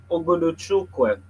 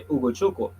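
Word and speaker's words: Ugochukwu: Um, yeah, and they brought in this kid, Leslie Oguduchukwe. Oh, God, I think I butchered that. Uguchuk. Yeah, it's actually Uguchukwu.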